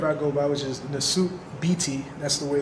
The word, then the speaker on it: Nesut Biti: So, this is the name that I go by, which is the suit BT. That's the way it's pronounced, the suit BT.